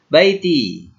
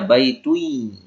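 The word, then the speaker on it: بيتي: Baiti. Baiti ini asal katanya kan baitun. Baitun tambah ya sukun. Jadi tidak mungkin dibaca baitui. Tidak mungkin. Dibacanya baiti.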